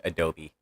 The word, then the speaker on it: Adobe: Adobe yeah it's it's it's pronounced Adobe kind of like the clay bricks SL structures that were